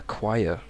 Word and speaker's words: choir: okay and next Super I don't know how this word got this pronunciation but it's a choir choir and you can think of it maybe like this with a Quai maybe Qui or even this it's like a y with a k at the start Qui